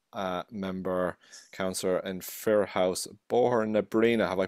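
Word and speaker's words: Bohernabreena: It comes director for Barry Andrews MEP, then obviously South Dublin County Council, Fianna Fáil member, councillor in Fir House, Bohor na Breena. Have I pronounced that right?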